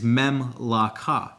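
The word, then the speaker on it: ממלכה: The definition of the word in Hebrew Strong's Concordance 4467 is Memlaka, and it is, the pronunciation is Memlaka.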